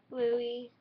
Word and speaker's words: Louis: Niall like Mile, Zane like Rain, Harry like Darren, Chris, Chess, Louis, the S is silent, Louis, Liam, duh.